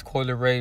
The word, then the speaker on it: Coi Leray: in her name because her name is coila ray right and that name comes from the koi fish which is actually spelled with a k and this fish is